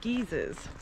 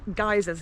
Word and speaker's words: geyser: area famous for its geezers they're pronounced geysers here but the british say geezer and this area is